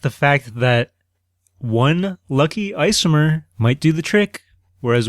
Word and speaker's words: isomer: Isomer. I-S-O-M-E-R. Isomer. The first thing I think of when I hear the word isomer is ice cream, because it sounds like the word ice cream, not because it actually